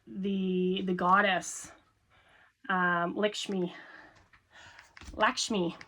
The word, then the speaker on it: Lakshmi: Um, Lakshmi, Lakshmi, I think it is pronounced. I uh I always say Lishmi, but I think it's I think it's Lakshmi.